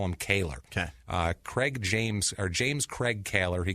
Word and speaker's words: Kaler: We'll call him Kaler or Collar. I've heard it pronounced both ways. We're going to call him Kaler.